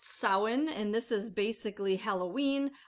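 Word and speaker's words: Samhain: will work for both the next one is pronounced sowin and this is basically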